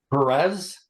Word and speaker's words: Perez: his brothers Judah was the father of of pronounce that Perez right Perez and pronounce the next one you